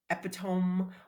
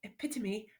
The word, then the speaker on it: epitome: you've never heard it you might say um at Petone or something totally different but the the word is pronounced epitome and that cuz she says that in her little accent epitomy but every time I read it and before